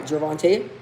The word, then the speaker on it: Gervonta: Javvante Tank Davis, bro.